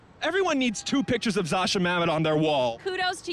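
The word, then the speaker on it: Zosia Mamet: next to it everyone needs two pictures of Zasha Mamet on their wall kudos to you to you for pronouncing her name right yeah oh wow that's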